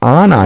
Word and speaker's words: Ana: been mispronouncing your name it's ana not anna so sorry about that